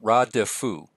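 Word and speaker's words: רָדְפוּ: But this is ra, it's a long A, and then the vocal schwa, radafu.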